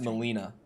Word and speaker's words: Melina: But yeah, like the only real life example I have of that name, it's pronounced Melina.